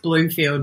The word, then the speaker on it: Blomfeild: with the lovely Bloomfield how are you doing yeah I'm good thanks how are you did I say that right yeah yeah it's pronounced Bloomfield but it's spelt with one oh so it's confusing so